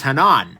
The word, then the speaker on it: Hanan: places I actually asked Spyderco how that you pronounce this thing because it's Haan um and it is Hanan i it's a semitic word apparently meaning either